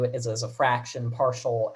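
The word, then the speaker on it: ∂: use the same symbol um for for a partial derivative as we do for a regular derivative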